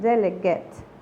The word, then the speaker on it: delegate: terminación G-A-T-E al final, es parecida a la palabra agate, que la vimos en la segunda clase, y que normalmente esta palabra al final termina como gate, pero esta también es una excepción. Delegate termina como una G-E-T, delegate.